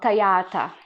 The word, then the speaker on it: tagliata: is already cut yeah it's called tayata yeah it's easy yeah i always read it as i say it yeah tayata yeah so